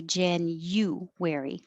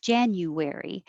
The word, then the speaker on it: January: so starting with january you can also say gen you weary january it just takes a little longer and anything that would change to uh in unstressed syllables is more likely that native speakers would do it changes the sound but it also changes